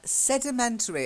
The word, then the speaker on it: sedimentary: sand and mud mud mud baths is a sedimentary another long word so let's look at it